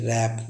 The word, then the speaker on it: wrap: जब guys WR या SW में हमेशा डब्लू साइलेंट होता है। जैसे WRAP रैप, जैसे पढ़ते हैं रैप, जिसका अर्थ है लपेटना।